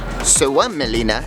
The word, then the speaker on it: Suomenlinna: Suomenlinna, as it's pronounced, is a UNESCO World Heritage Site that